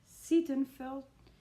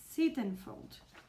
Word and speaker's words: Sittenfeld: go for eligible by Curtis Stephen felt stiff sittenfeld sittenfeld I've liked the other in the the video I've said it wrong like eight times and right now here again I don't know you know so Curtis sittenfeld and it's a retelling about Pride and Prejudice